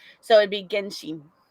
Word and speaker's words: Genshin: Because I think it comes. Correct me if I'm wrong, chat, but I think it comes from Japanese. And in Japanese, it would be Genshin.